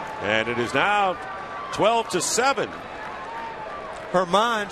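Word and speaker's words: Germán: Herman spells his name German. The G is silent, but not his bat.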